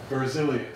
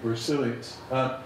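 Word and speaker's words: Berzelius: on the mechanistic side is jacob brazilian site they've been pronouncing that incorrectly so Jacob bruseles he argued that chemistry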